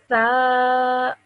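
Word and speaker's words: ث: Over here, this one again, you have to say it with your tip of your tongue between your teeth. So you say tha.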